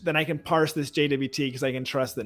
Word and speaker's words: JWT: ultimate guide to using jwt in graphql um which by the way i've also heard pronounced jot i don't know what the linguistic motivations for that were but in case folks heard that around um and then we